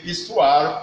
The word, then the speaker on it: histoire: Remember, in pronouncing the Histoire, please don't pronounce it with what?